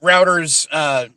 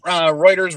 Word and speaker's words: Reuters: Routers, same word. I'm just putting the emphasis on the different syllable. Yeah. But I trust certain news agencies, and Reuters, Routers, Reuters, whatever is one of them.